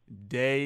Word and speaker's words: Dey: got your name right it's day right yes it is it's de it's my father's initials it's not da why so I get that people oftentimes don't know how to uh pronounce it because of the e but it is it's day okay yeah I was